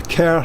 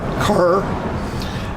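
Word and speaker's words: Kerr: was the castle of the care family k-e-r-r which is how it's pronounced not core uh sorry it's a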